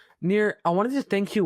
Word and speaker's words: Nir: Near spelled like my first name.